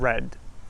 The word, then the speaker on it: read: So one example could be red and red. Like for example, the colour red and I read a book. They're pronounced exactly the same, but they have a very different meaning.